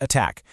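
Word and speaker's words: ATT&CK: You've probably heard of the famous MIT anti-C framework, and yes, you pronounce it, attack, which breaks down tactics for traditional cyber attacks.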